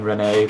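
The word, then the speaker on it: Resnais: were very compute confused because there was an s in it which is silent interesting they could do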